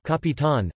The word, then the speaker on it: capitán: penult, joven, virgin, metine, the great majority of nouns and adjectives ending with n are stressed on their last syllable, capitan, almacen, jardín, corazón.